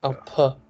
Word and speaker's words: un peu: What might be happening is you might be visualizing an E and U pronounced on their own, as in I have had, is j'ai eu, isn't it? J'ai eu. But anywhere else, je veux, je peux.